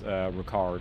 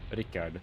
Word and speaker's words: Rickard: my entirety first name is Ricard, or Rickard is how it's pronounced. And it's kind of like a Scandinavian spelling of Richard.